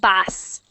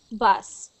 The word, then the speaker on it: bus: h a little worse it is like bass okay like a bass and we don't want it to sound like bass like that okay okay bus next one up up